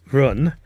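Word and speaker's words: 润: Well, the uh interesting enough there's a Chinese character that is pronounced run, which doesn't mean run, but it sounds exactly like the English word run, which is talking about the idea that yes, we should leave China.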